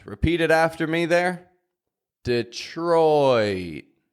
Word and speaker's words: Detroit: gate you may notice Detroit has an oi sound repeat it after me there Detroit not just Detroit but